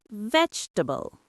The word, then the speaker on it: vegetable: Native speakers cut it. We say three syllables.